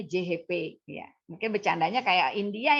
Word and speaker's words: CHP: CHP bacanya JHP ya.